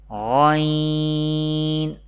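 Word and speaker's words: غ: Ghain and Kha, pronounced from the top part of the throat.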